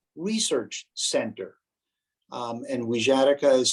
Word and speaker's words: Wixarika: encourage you to visit the website of the weejatika research center and wizardica is spelled w-i-x-a-r-i-k-a the wijatika research center website it has a donations page